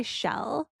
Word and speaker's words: Chelle: So, Leads by Shell. Shell is spelled Chelle.